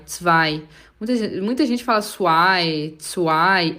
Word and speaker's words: zwei: Atenção para a pronúncia do zwei. O Z tem som de TS, tss, tss, e o W tem som de V, zwei. O EI tem som de I, zwei. Muita gente fala zwei, é zwei, zweimal.